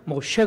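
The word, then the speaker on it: משה: 라고 한 것은 2 원어 그대로 발음을 하면 못 쉬어 가야 됩니다 여러분 모 세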